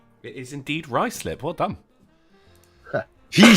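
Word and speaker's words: Ruislip: Sinatra says it is indeed Ricelip. Well done. He said Ricelip. He said Ricelip. I said Ricelip.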